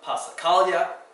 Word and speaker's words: passacaglia: All of these on this page, everything from passacaglia, tricky because it has a double consonant at the S and then a silent G before the L.